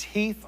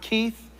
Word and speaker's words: Heath: That's Heath like the candy bar. Hat. It's not Keith. It's not Pete. It's not Steve. It's not anything else with a long e sound.